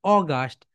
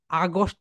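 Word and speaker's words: August: এখানে ভুল করে সবাই, দেখো এখানে বলে অগাস্ট, রাইট প্রোনাউন্সিয়েশন অগাস্ট, বলো অগাস্ট, আগস্ট না, আগস্ট বলে অনেকে, রাইট প্রোনাউন্সিয়েশন হবে বলো অগাস্ট, অগাস্ট, অগাস্ট।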